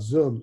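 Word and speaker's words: Zum: there are several companies the main one is pronounced zoom just like you know what we're talking about but it's spelled z-u-m and this is a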